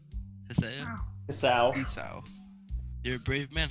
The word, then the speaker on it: Hisao: Hiseo? Hiseo? Isao. Esau. You're a brave man, Hisao.